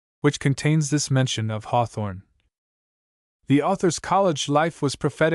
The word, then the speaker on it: Hawthorne: Sims, however, in his preliminary letter refers to the fact that the universal pronunciation of the name in Raymond was Hawthorne. the first syllable exactly as the word hearth was pronounced at that time.